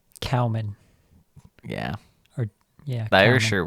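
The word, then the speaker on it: Kaoimhín: kelleher and kawahamine in i think it's pronounced cowman yeah or yeah they're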